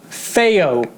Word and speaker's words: FiiO: to pronounce their name give me a second pronunciation ounce fair there we go feyo feyo okay hey yo got it right the